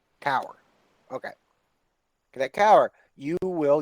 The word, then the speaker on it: Kaur: Cadet Kaur, did I pronounce that right? Cower. Kaur.